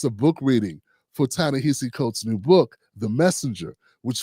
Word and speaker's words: Ta-Nehisi Coates: Ta-Nehisi Coates. I had to like phonetically do his name, you know what I'm saying?